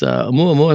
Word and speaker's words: Oumuamua: We also had an interstellar comet that whipped through here, and Lucky Mo asks, Oumuamua is supposed to rhyme with holy cow.